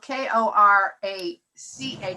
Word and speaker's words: Korach: noticed something very interesting his name is spelled c k-o-r-a-c-h is pronounced korach um is a a